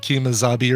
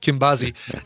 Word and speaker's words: Kimbazi: I think I said Kimazabi or something like that before. Kimbazi.